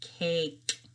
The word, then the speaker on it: cake: a vowel sound and that sneaky e kind of made that switch from an ah to an a for cake and we don't say that e sound at the end so our sentence on